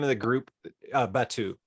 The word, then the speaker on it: Batou: Batu. How do you pronounce it actually, Pol? Yeah, either way is fine. Batu, either works.